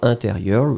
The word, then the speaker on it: intérieur: Intérieur, you will write it like I-N. Remember, it's a nasal, so everything is going in the nose. You don't pronounce any N.